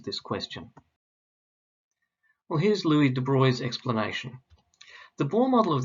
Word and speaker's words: de Broglie: and it was louis de bruy and please note he's a frenchman and the pronunciation of his name is de bruy not de broglie louis de bruy first